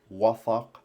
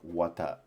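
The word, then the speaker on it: وثق: as I was earlier, which means the pronunciation is with the tha and with the qaf as wathaq, not like wata or something.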